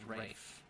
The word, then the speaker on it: Ralph: Spelled Ralph but pronounced Rafe.